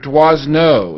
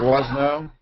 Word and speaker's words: Doisneau: Robert Doisneau. Is that how you pronounce that, Lotus? Yeah. Doisneau?